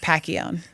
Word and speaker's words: Pacchione: It's Pacchione. It's okay. He'll correct us. You said my last name correctly, so. I've known you long enough. Yeah, okay. It's a hard C.